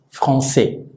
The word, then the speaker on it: français: Yo me llamo Manuel y esta es nuestra primera clase de este idioma que se llama, se escribe en francés así y se pronuncia français.